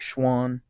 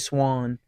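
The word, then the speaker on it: Swann: and the Vanderbilt quarterback Schwann Schwann what I say it like that AJ Swan um he's their returning starter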